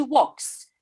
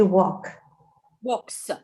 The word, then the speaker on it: walks: By the way, guys, the verb to walk, the la, l is not pronounced. It is silent. We don't say she walks. We say she walks. La is silent letter. She walks.